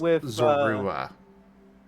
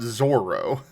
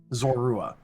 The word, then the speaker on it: Zorua: but it is not Zoro as you keep pronouncing. Yeah, I keep saying Zoro. I Okay. How do you pronounce it then? Zorua. Yeah, there's a U in there.